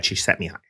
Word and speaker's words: Csikszentmihalyi: In fact, it is very similar to the definition of flow by researcher Mihai Csikszentmihalyi. Where you're being such a good pronunciation, by the way.